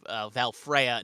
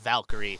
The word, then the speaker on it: Valfreya: It's Valfreya, not Valkyrie, not like, the chariot coming down from the sky.